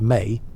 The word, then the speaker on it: me: The concept of me, pronounced May, was central to Sumerian religious thought.